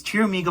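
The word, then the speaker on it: Pteramigo: your amigo so yeah it's teramigo but with a p in front of it so yeah a t-rex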